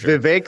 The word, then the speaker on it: Vivek: It's Vivek like cake.